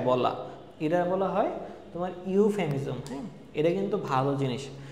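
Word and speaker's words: euphemism: তারপর হচ্ছে ইউফেমিজম, হ্যাঁ ইউ দেখো এখানে ইউ উচ্চারণ হচ্ছে কোনো ভদ্রভাবে শব্দ বলা।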